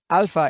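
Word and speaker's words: ἄλφα: much as you can alpha is the name of the letter and the sound of that is ah second letter is vita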